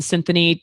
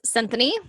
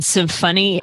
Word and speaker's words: Cinthanie: You can find Cinthanie. What's your IG and your Facebook? My Instagram is Cinthanie. My Facebook. Spell that for everyone, because everyone thinks that we're saying symphony.